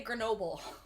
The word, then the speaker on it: Grenoble: prance speaker over there we say grenoble grenoble yes rhymes with the chernobyl wasn't there some kind